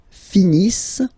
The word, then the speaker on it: finissent: Ils finissent. So remember, as usual, when we've got the verbs ENT not pronounced.